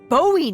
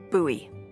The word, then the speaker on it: Bowie: warning he pulls out this huge Rusty boat Bowie knife it's actually pronounced buoy what no it's like the last name like